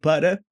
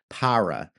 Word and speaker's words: para: So we're like budda, like in order to or for the preposition. An American English speaker may pronounce that as para, para. Okay, so we don't want to go with that. That's a curled R. We want the tap. We want this like light flappy R sound.